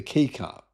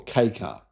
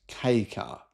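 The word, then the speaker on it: kei car: It's a widebody, sportier version of the Honda N1 EV, the key car. Yeah. Or K car. Ki is a Japanese word meaning light or small. And it's pronounced K car. the letter K.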